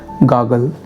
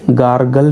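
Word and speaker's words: gargle: Okay, उसे कहेंगे हम लोग गागल। ठीक है, बीच वाला आर साइलेंट है, गार्गल नहीं कहेंगे आप लोग, गागल।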